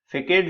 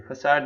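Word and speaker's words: façade: फेकेट जो होता है, देखो ये हम लोग कहते हैं, फेकेट नहीं, फसाड इसको बोलते हैं, इसका प्रोनाउंसिएशन।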